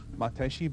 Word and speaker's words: Matayoshi: Matayoshi, sickle hands Matayoshi, Matayoshi being the Okinawan pronunciation of the family name.